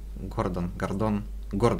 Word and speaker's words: Гордон: А Гордон, или как? Гордон, все верно. Правильное ударение, так, наверное, будет все-таки. Это РБ, который вплотную связан с Акмонахами и Заричем.